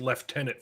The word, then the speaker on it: lieutenant: we set his strongest left tenant free which is which isn't how you pronounce Lieutenant but well it is if you're British and if you're pretentious